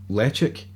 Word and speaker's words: Ledaig: It's le-ch-aig. I think it's actually how it's properly pronounced. Everyone says le-ch-aig.